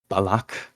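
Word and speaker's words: balac: yeah if if something ends with C like balak balak means opportunity balak b a l a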